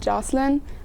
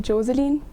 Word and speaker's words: Joseline: People here pronounce it Jocelyn, but in Austria everybody calls me Joseline.